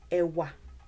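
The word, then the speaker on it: ẹ̀wà: When you divide it into syllables, how many syllables are there? Let me cover this part of the screen with myself. How many syllables are there? Ewa, ewa, ewa, ewa. 2. Yes. E, and then wa, wa, wa.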